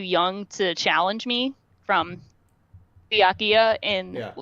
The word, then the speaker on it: Byakuya: c yeah yeah so just remember the letter b and then go byakuya yeah byakuya okay we did